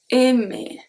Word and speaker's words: aimer: Because this one, aimer, when it's the infinitive of the verb, it's pronounced aimer. But when you conjugate it, for example, if you want to say I like, you can say j'aime, aime. In this case, it's a sound E.